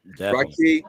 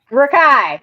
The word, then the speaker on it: Rakai: Rocky, when you get that movie. Rakai, you said it wrong.